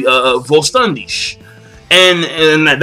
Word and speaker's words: Vollständig: as they say uh Volandish and and that's actually the German pronunciation but like the thing about it is is that I was genuinely surprised.